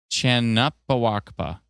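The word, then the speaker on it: Canupawakpa: That's pretty much right. It's pronounced Chan. Oh, Chan. Chanapawakpa.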